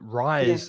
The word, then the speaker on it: rise: rice and not rise also the vowel sound is different rise has the i sound like my or high rise and raise is a like day or say so the vowel sounds